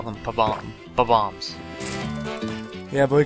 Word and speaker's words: Bob-omb: When I was young, I always pronounced them as bob-ombs. Well, that's how you say bob-ombs. They're not... I always said bomb-ombs, but their names are bob-ombs.